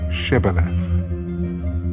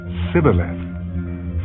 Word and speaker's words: Shibboleth: If he said no, then they would say to him, "Then say Shibboleth." And he would say Sibboleth, for he could not pronounce it right.